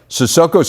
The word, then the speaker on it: Sissoko: As we learn in today's edition of our Big Spotlight, Sissoko's come a long way, literally and figuratively. The way you pronounce my name is Sissoko, but back home people call me.